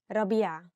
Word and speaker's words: ربيع: Maybe ربيع is difficult because of the ع, so say ربيع.